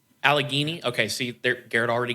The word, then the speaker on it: Allegheny: I I didn't actually look up how to pronounce this Allegany Allegheny okay see there Garrett already gets one point